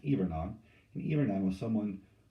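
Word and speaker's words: hivernant: even on looks like it's spelled hibernate it's pronounced ebernon and even i was someone who signed a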